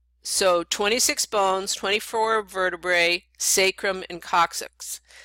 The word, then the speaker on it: sacrum: So 26 bones, 24 vertebrae, sacrum and coccyx. And sacrum, by the way, can also be pronounced sacrum, so any way you want to pronounce it, you're welcome to.